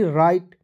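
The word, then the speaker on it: right: बोलना ही पड़ेगा बोलते रहिए आर आईजी एसटी राइट टी आईजी एसटी टाइट clear चलिए रूल नंबर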